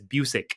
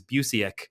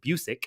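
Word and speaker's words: Busiek: buic his last name I heard McLoud pronounce it in the documentary as buic I'm trying to learn that because in my head forever I thought it was Buc but it's not it's buic I believe um but anyways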